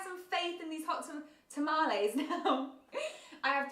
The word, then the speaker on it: tamales: Are you saying the hot tamales are amazing? Or are you saying the Dunkaroos are amazing? Tamales is how you pronounce it. Tamales, not tamales.